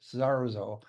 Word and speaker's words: Sarzo: talking before the show and it's rudo mexo Saro and uh Rudy am I correct on my pronunciation or a little off already no that